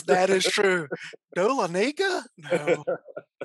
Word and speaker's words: Dahlonega: Dahlonega? No. And Dahlonega is actually a mispronunciation, but there you go. That's the white man pronunciation.